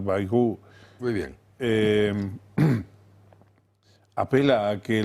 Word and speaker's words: Bayrou: Ahora, cuando este señor que decís que se debe pronunciar Bayrou, muy bien, apela a